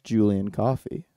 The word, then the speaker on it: Julien Coffey: And there's no one better to do that with than the person who I experienced Barbenheimer with, and that's Julien Coffey. Did I pronounce that right?